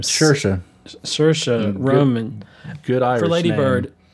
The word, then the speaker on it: Saoirse: and and you know and how do you pronounce help me with that first name sure sure Saoirse Roman good our Lady Bird yeah I think